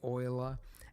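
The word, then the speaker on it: Euler: shift a utilities rotation rotate not Ula oila that yes e I know they went with the weird pronunciation I think it was a Frenchman right could be German doesn't matter same same right just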